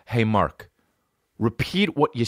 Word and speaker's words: Mark: Another thing about Mark is when he says his fucking name to people, Merk. That's how they say it in Ireland, Merk.